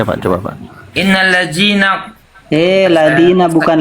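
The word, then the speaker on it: الذين: bacanya. Monggo dibaca. Dibaca Pak, coba Pak. Innal ladzina, Ladina bukan lajina.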